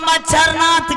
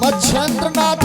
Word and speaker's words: मछिंद्रनाथ: मरते दम तक तुम्हारे मुख से सही उच्चारण नहीं होता है गुरु बाबा गुरु बाबा हां बोलिए बाबा मच्छर नाथ की मछेंद्रनाथ है मच्छर नाथ बोलता है चुपका कही का य